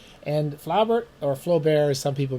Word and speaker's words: Flaubert: We're going to talk about Gustave Flaubert, or as he's properly pronounced, Gustave Flaubert. Don't let any other idiot tell you something that contradicts me about pronunciating French names. It's Gustave Flaubert. And Flaubert, or Flaubert as some people mistakenly call him,